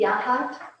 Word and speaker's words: Yachats: does it end in a T, Yahat? Yes, Yachat.